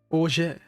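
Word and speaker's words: orgeat: Auget. Let's see, pronunciation guide.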